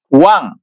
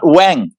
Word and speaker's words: Wang: wine called it one how do you pronounce it one not wang one one yes so the g is kind of swaddled up in the nation the end wow this reminds